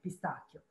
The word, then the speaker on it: pistacchio: every time you have CHI is always like a K, pistacchio.